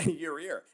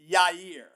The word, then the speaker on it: Yair: Other people told Yair. me I'm throwing an extra R in there. You are. You're saying your ear. Yes. It's Yair.